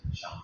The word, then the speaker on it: Shang: The symbol you see here is from China's oldest writing system called the Oracle script, which was used in Shang text. It's pronounced Shang.